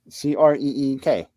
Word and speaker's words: creek: the point there's a crick yeah well spell creek c-r-e-e-k yes you pronounce the e it's creek he comes from other